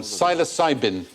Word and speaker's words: psilocybin: is like that yeah the magic mushroom psilocybin silent P nice an assignment interesting experiments